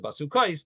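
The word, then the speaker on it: בסכת: Basukas, even though we pronounce it basukais, but it's spelled as if it says basukas. Okay.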